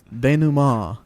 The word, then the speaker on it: denouement: Denouement.